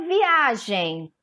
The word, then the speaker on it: viagem: A letra A que é a sílaba tônica de viagem, tá? O gen é a última sílaba, o A a penúltima, então ela é uma paroxítona, tá?